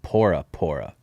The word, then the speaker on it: Bora Bora: Also, shout out to him because Bora Bora is what we call it. There is no B sound in like Polynesian language. So, they pronounce it pora pora.